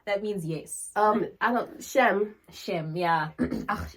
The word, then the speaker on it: shame: I don't shem.